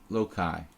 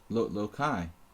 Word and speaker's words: Loki: Saturday is Loki's day. You say Loki or Lokai? Lokai. I guess it's Lokai, right? Not Loki.